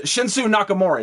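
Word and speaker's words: Shinsuke Nakamura: uh yeah um sin I can't never pronounce his name uh but yeah uh shinsu Nakamura that's who that's how you say it but Baron Corbin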